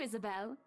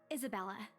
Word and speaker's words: Isabella: Hopefully you can help us out too, Isabel. Isabella. Right, You're making my name wrong. It's a lovely name, Isabel. Isabella. Not L. It's a la.